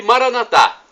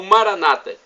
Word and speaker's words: Maranata: E Maranatá, pronúncia católica, ou Maranata, pronúncia evangélica ou protestante.